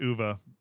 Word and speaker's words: uva: what is UVA uh it means grapes in Spanish UA it's pronounced UA by the way sorry